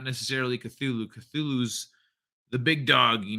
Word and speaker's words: Cthulhu: Something about Cthulhu, or however you spell it. You almost had it. You Cthulhu. Cthulhu.